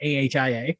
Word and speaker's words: Ohio: I'm I'm from the part of Ohio where you pronounce it A-H-I-A.